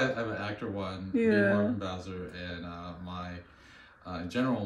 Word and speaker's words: Bowser: but okay right so my last name is Bowser um always rhymes with the mayor's last name why because we have